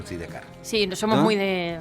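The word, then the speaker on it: Sidecars: Sí, aunque aquí no se dice side car, sino de car.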